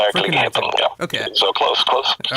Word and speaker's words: Verkligheten: Is that how it's pronounced? Verkligheten.